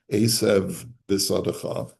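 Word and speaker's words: עשב בשדך: The word esev finishes with a vase, and the next word bisadecha begins with a base. It's the same letter, just one is hard and one is soft. And you therefore have to create a separation between the two. Esev bisadecha.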